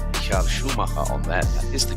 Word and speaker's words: Schumacher: There is Dunlop, and then of course the banner which has the legendary name Michael Schumacher on there. That is the correct pronunciation.